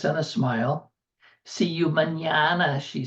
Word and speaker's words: mañana: See you mañana, she says with the emphasis he has come to hate.